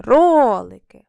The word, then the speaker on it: ролики: На який склад падає нас наголос? На перший ролики.